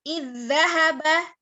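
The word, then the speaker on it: إِذْ ذَهَبَ: Kemudian idzahaba, ya. Bukan dibaca iz. Kemudian zahaba, jangan jangan dipisah.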